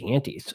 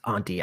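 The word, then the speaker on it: Ante: your way up to the aties so um I think it's pronounced Auntie actually um and so that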